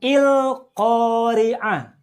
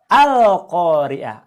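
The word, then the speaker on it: القارعة: surat al-qariah ayat 1 bacanya bukan Il Qoriah atau full Qoriah tapi bacalah al-qariah Apa cirinya dibaca karena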